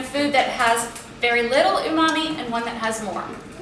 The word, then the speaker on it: umami: imami is spelled u m a m i o mommyyy mmmy and it's it's a Japanese